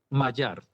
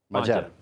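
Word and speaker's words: Magyar: ¿Cómo cómo se pronuncia, por cierto, el nombre de este señor? Mayar. Mayar.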